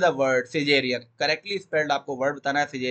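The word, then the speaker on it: Caesarean: सिजेरियन बोलते हैं, सिसेरियन नहीं बोलते, सिजेरियन प्रोनाउंसिएशन में जाएगा, ठीक है।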